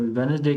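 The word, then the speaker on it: Wednesday: तो वेडनेसडे के अंदर डी जो है ये साइलेंट लेटर है।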